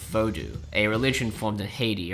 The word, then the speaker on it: Vodou: Voodoo is a derogatory mispronunciation of Vodou, a religion formed in Haiti around 500 years ago.